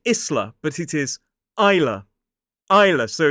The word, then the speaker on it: Isla: This one looks like Isla, but it is Isla. Isla, so it's I, like the thing we see with, I. The S is silent, L-A. Isla.